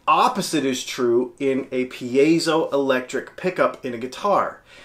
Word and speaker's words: piezo: internet how do you pronounce it it is pronounced P a so piezo pickup what is a piezo well it's actually